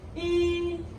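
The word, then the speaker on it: 一: Then E. E. First tone.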